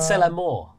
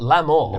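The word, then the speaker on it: c'est la mort: Well, you mispronounced it to love, so that's No, I said c'est la more. Yep. Not l'amour.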